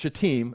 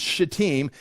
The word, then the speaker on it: Shittim: They've come to this place right here that is going to be called Shittim. We're going to say that, that's how you pronounce it, Shittim. I know it's a dangerous word. It's Shittim.